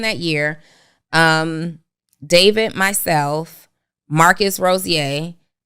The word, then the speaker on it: Rozier: Early in that year, David, myself, Marcus Rozier, I always call him Rozier because it's how it's spelled, and Marketing by Monray.